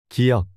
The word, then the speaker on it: 기역: This is pronounced like a soft G in go or K in key. 기역.